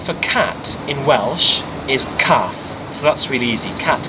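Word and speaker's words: cath: also have um a very strange very peculiar pronunciation rule I'll explain um the word for cat in Welsh is calf so that's really easy cat calf but if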